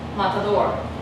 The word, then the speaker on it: matador: So in English, where is our tonic syllable? Matador. It's here, right? Matador. But in Spanish, it's matador.